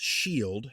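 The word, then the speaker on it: Scyld: Skeleddwa otherwise known as sky pronounced shield founded the skelling great pronounced g or gate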